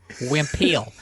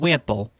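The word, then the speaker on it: Wimpel: Wimpiel. It's spelled Wimple, but it's Wimpiel. It's Dutch.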